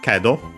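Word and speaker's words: けど: But after it we have kedo, conjunction in this case, but, accent on the first mora.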